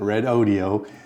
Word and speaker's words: Redodo: thank red audio and yes that's how you pronounce it red audio for sending me the 12.8 volt 100 amp